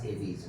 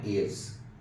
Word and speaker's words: Aves: Pronunciation is very important. Class AVs, not aves.